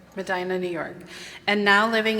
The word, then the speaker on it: Medina: Medina, New York.